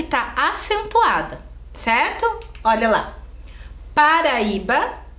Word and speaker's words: Paraíba: O I fica sozinho. É isso mesmo. Mas ele é o mais forte, é a sílaba tônica.